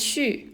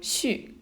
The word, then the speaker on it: 旭: It's pronounced as 旭, and it means the rising sun. In the winter, at 9 o'clock, that's when the sun rises. So 旭.